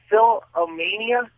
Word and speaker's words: Philomena: It's pronounced Philomena, Armenian.